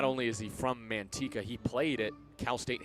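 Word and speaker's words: Manteca: Manteka. If I'm mispronouncing that, somebody aka Tyler Peterson, please correct me. Or anyone. Mantika, thank you. Vince coming in clutch. I had a feeling I I was messing that up.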